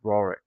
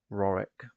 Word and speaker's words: Rorich: So you went to a little village called Rorick, very small farming place. It's spelled Rorich, like that.